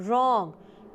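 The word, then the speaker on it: wrong: ओ एन जी ओ रॉन्ग इन समय आप देख रहे हैं कि डब्लू लिखा है लेकिन आवाज नहीं आ रही अज्ञात व्यक्ति अतिव्यई टेस्टी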